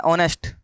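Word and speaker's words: honest: English क्या होता है, ऑनेस्ट। लेकिन यहां पे क्या लगेगा आपका, एन। क्यों सर, क्योंकि यहां पर ऑनेस्ट लिखा हुआ है, एच साइलेंट होता है, और ऑनेस्ट में ओ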